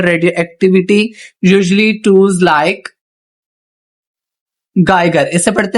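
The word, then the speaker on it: Geiger: A scientist major radio activity usually tools like गाइगर, इसे पढ़ते हैं गाइगर काउंटर्स, एंड इसे सिंटिलाइजेशन डिटेक्टर्स। ठीक है, ये दोनों नाम प्रोनाउंसिएशन की देते हैं इसको, गाइगर काउंटर्स एंड सिंटिलाइजेशन डिटेक्टर्स।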